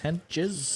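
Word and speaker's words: Hentges: talking about hos H hos not Mentos h e n t g s henes henes is it g g yes henes henes Spanish henes sent T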